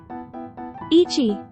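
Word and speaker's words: 一: Ichi has various pronunciations, making it the trickiest one. It must be having a hard time. The basic pronunciation is the onyomi, ichi.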